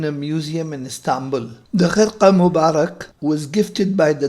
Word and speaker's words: Khirqah: Khirqah Mubarak or Khirqah Mubarak, it is pronounced Khirqah in Arabic, and in Persian and Urdu it is pronounced as Khirqah.